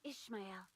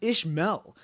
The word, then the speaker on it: Ishmael: I thought it was Ishmael, not Ishmael. It's because you gotta really emphasize that A.